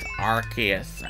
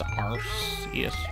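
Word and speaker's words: Arceus: them there just arus that's pronounced arus okay nobody says AR yes arus why am I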